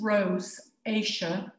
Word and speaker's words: rosacea: So rosacea, and it is pronounced rosacea, first manifests itself as facial redness, and it's sometimes called the curse of the Celts.